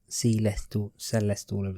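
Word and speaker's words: Sé lest: The translation of it, so it's Celestal, is how it's pronounced, translates to "I see a train."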